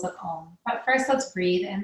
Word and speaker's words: Om: And I want you to really think about the emphasis of the 3 syllables that make up Om, which is an A, a U, and an M. So it's a sound. And as you make those 3 sounds, they blend together to create that one sound that we know as Om.